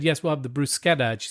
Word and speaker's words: bruschetta: right but interestingly enough when an Italian word has a CH that's actually pronounced like a k that's right so hard so C so one of my pet peeves when you say bruschetta but you pronounce it